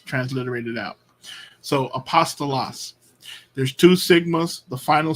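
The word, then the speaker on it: ἀπόστολος: used at the end of a word so Apostle loss Apostle loss notice the syllables because you have uh one vowel star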